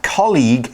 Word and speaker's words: colleague: Now, colleague has a hard G, a G sound, so it's not like the soft G in college. Okay, colleague, college. Different spelling, different pronunciation.